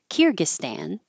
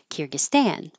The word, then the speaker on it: Kyrgyzstan: This I had to look up because I have always put stress on the first syllable, like Kyrgyzstan, but it can also go on the end, Kyrgyzstan. So whichever way you prefer, there were actually four variations because the stan could also be stan. So Kyrgyzstan, Kyrgyzstan. But Americans, if they see stan at the end of a word, they're going to pronounce it stan with an a.